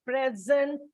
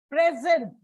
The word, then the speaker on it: present: These are disyllabic words like present, absent. Present, the gift given to you, it is a verb. So it is put on the second syllable. But present, you are present, noun. So it is put on the first syllable.